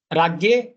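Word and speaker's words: राज्ञे: The Radne, this is Maharashtrian pronunciation. Ragye, North Indian, and little bit difference in South Indian.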